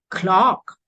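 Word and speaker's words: clerk: we have this word c-l-e-r-k e r k here becomes clock and here it is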